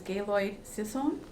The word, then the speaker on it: Gaylord Sisson: So our next speaker is Gaylord Sisson. Did I pronounce that correctly?